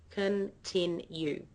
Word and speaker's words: continue: the word continue okay now that word has three parts three syllables continue the middle syllable is stressed okay so if you have a listen to the tone or the pitch of my voice you'll notice that it goes up on the second syllable I say continue continue